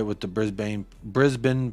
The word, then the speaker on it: Brisbane: totally right with the Brisbane Brisbane pronunciation hey there you go brisban not Brisbane uh honestly I was